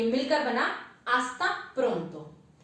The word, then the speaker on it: hasta: Naturally ला एच दे स्पेनियोल हमेशा silent होगा, इसलिए इसकी आवाज होगी आ ऐसे ते आ से ही hasta pronto।